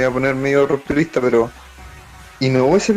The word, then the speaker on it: Inoue: cual, me voy a poner medio rupturista, pero Inoue se pronuncia el autor de Slam, ¿cierto?